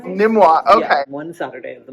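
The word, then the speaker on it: NMWA: in the arts we always yeah we we pronounce the acronym nimmoa nimmoa okay one Saturday of the month every other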